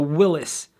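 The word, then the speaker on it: Willys: It's likely that it went down on possibly the Willis. Now, yes, I said Willis because that's how you pronounce it.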